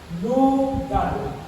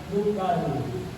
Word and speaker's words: lugal: So, ang terminology, ang term sa hari or king, actually is duhang syllables. Lugal. L-U period G-A-L. Lugal. Lugal.